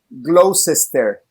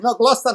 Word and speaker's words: Gloucester: Y dice, no, Gloucester no, Gloucester. Entonces, luego me enteré que era lo mismo, y así lo pronuncian. Se comen un chorro de palabras y le pronuncian Gloucester.